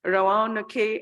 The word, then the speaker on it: Roanoke: don't know how to say this word, it's Roanoke, and for cross-sector.